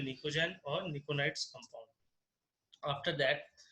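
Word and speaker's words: pnictogen: उसी तरह group 15 element नाइट्रोजन family को हम लोग बोलते हैं निकोजन। पी इज the silent word, निकोजन बोलते हैं इसको।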